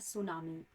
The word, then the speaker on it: tsunami: है स और नामी तो यह जो इसमें टी है वो साइलेंट है और स मिंस होता